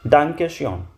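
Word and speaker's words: Danke schön: थैंक यू को को बोलते हैं आप लोग डांके ओके और थैंक यू सो मच को डांके शयन थैंक यू सो मच डांके शयन ओमलाउड का खास ख्याल रखना अभी ओमलाउड कहां पे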